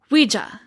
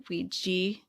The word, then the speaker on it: ouija: and they called it ouija ouiji am i saying it right ouija luigi o u i j a right you spelled it correctly the ouija board ouija you can say it ouija or ouija some people are very